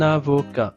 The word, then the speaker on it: avocat: De liaison. C'est un na. na na. C'est un avocat. sans prononcer le t final.